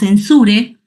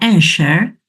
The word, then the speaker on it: Ensure: qué Porque lo que Nosotros llamamos ensure que en realidad su pronunciación correcta sería ener está fundamentado en una